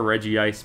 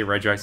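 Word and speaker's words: Regice: yeah the reggie ice however you choose to pronounce it i prefer reggie ice but i sometimes say regex because it's more socially acceptable because sometimes you get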